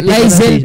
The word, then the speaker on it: Lizel: Lizel po talaga pronunciation ng name ko.